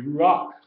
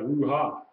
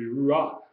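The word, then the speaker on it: רוח: That'd be ruach, Mm-hmm. okay? Not ruha, Right. be ruach, which we know means spirit, breath, spirit, divine wind, okay?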